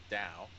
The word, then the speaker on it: Tao: taoism taoism it's pronounced dao oh no it is pronounced both ways depending on where you're from well if you're from